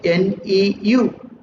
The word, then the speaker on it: nu: See here, E is proportional to nu, pronunciation NEU.